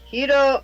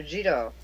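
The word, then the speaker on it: Jitō: 703 80 to empress hito of japan uh jito or with the j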